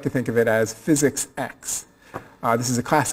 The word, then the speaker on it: Physics-X: X is um pronounced physics X it's not physics 10 you didn't miss Nine